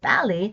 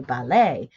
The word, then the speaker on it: ballet: That's why in English we say, in British English we say ballet, and Americans say ballet, and croquet, croquet, and crochet, right?